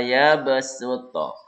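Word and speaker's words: يبسط: Tulisan shad dibaca sin. Ya, surah Al-Baqarah ayat 245 juz kedua. Nah, ini ya. Wa yabsutu. Wa yabsutu. Sud pakai sin ya.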